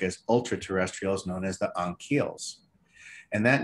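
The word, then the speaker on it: Ankheles: in the book as ultra-terrestrials, known as the Anhkeles. And that name is spelled out on the board there in the screenshot, A-N-K-H-E-L-E-S, Anhkeles, okay, plural.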